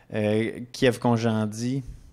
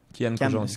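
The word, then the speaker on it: Kyan Khojandi: Éric Antoine, Sugar Sammy, Kiev Conjandi. Je le prononce bien son nom? Kian Conjandi. Excusez. Kian Conjandi.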